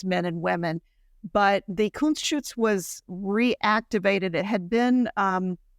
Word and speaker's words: Kunstschutz: Is that how am I pronouncing that right? Kunstschutz? Yes, Kunstschutz, yeah.